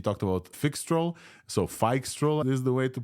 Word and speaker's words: Phixtral: things things he talked about fix trol so F stroll is the way to pronounce this the the FI model for Microsoft